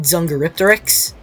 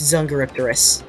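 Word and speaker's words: Dsungaripterus: I pronounce it Zungaripteryx, but it's Zungaripterus.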